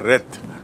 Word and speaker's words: wreath: उसे कहते हैं flower रेथ, WREATH। एंड to rhythm माने उच्चारण देख लीजिए, टू रिद जब वो क्रिया होती है तो रिद, रिद माने गूंथना, और रेथ माने फ्लावर का गुच्छा जो गोलाकार